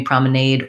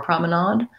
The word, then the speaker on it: promenade: is showing me that in british english promenade in american english promenade so i guess that's